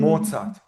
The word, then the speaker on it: Mozart: The reason is that this letter in German it's called Z. So it is a combination of T and S, Z.